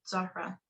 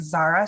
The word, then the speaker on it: Zahra: I've I mean even I pronounce my name like Zara sometimes just because it's just easier for people to say if I say her